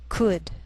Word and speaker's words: could: Sometimes L can be silent, so you have to be careful.